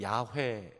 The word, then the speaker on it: 여호와: 하늘의 신 여호와 여러분이 여호와 란 단어가 원래 발음의 야외 근데 원래 하나님의 이름은 아무도 어떻게 발음하는 지 를 몰라요 왜 그러냐면 여러분 이스라엘